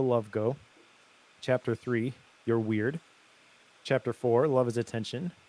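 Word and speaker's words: wyrd: the weird and uh it is pronounced weird uh i looked it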